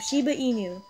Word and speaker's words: Shiba Inu: you're wondering I did to figure out how to pronounce Shiba Inu uh pronounced it correctly the entire time Shiba Inu and I like this